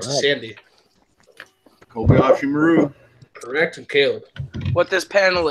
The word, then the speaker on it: Kobayashi Maru: go to Robert first called the Oishi Maru Kobayashi Maru is correct right Shawn the Kobayashi Maru is correct sandy Kobayashi Maru director killed what this panel is the Kobayashi